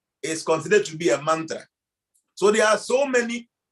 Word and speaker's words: mantra: In fact, the Sanskrit word mantra is 2 syllables. Say man and tra.